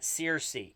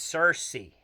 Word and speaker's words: Searcy: It's not Searcy, it's Searcy. Okay, Searcy. It's spelled Circe. That's why I keep saying it wrong. It's spelled like Sears, but with a C at the end.